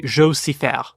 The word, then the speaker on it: Jo: Carol Shelby Tony shell now up until very recently I used to always say joet obviously that he's Swiss so it's actually Jer not Joseph Andre Sim serin Rob